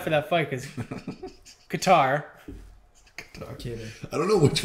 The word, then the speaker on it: Kattar: Qatar. Cater. I don't know which one's right now. Is it Cater or Qatar? Cater. It's Cater. Cater. For sure, Cater.